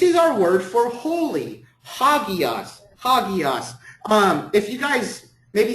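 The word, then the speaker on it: ἅγιος: Hagios, exactly. Very good. And this is our word for holy. Hagios.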